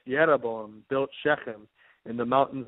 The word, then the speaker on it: Jeroboam: 25 there it says and jeroboam or better pronounced yabo built sheim in the